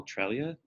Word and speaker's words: Treglia: more you know correct alright so you can pronounce the G or not they both work with United Way United